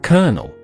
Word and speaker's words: colonel: English spelling and sound don't always match. For example, this word is pronounced colonel.